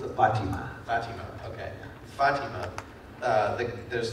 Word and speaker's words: Fatima: I think before I'll turn things over to the audience is that I felt like, in fact, how do you pronounce it? It's a Fatima. Fatima.